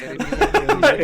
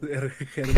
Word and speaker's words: Hermione: O sea, mi nombre está dividido en tres, en tres sílabas. Hermione, o así, ¿no? Dan en cuatro, perdón, cuatro sílabas.